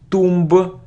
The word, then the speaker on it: tomb: isn't Tom it isn't Tomba its tomb - so we don't pronounce be and it's Alan son